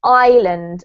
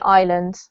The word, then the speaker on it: island: very confusing but actually we don't pronounce the s so it's as if um it's it's not there so it's island as if you have